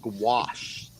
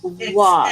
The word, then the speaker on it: gouache: So Melissa just let us know it's pronounced gouache. Yeah. Yeah. Wash.